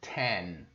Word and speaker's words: ten: vocês que o N tem som de boca aberta? Não vai falar tem, que você está falando TM, né? Tem, que não existe essa palavra no inglês. E é ten, som de boca aberta.